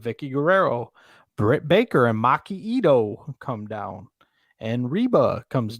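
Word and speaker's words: Maki Itoh: Maki Ito. Maki Ito.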